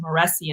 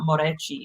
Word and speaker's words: Moreci: why my name is my last name is pronounced maresi and not morichi it's like i know that morichi is the correct way no one around here can pronounce it that way my ancestors changed it you